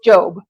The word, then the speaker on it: Job: word job but because it's a name it's pronounced job so job 37 14 and that means it's chapter 37